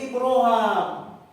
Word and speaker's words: Ibraham: Ini ada penjelasan Al-Kisai dan Ibnu Takqwan kalau kita belajar qira Asabah membacanya tidak Ibrahim tapi membacanya Ibraham.